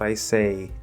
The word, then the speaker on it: is: Is is supposed to be a Z sound. Many English learners don't know that. It is supposed to be a Z sound, even though it's spelled with an S.